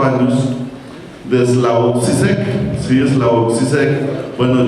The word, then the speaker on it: Slavoj Žižek: de Slavoj Žižek, sí, Slavoj Žižek. Bueno, yo lo pronuncio así en español, sí, a lo colombiano, no puedo pronunciarlo en esloveno.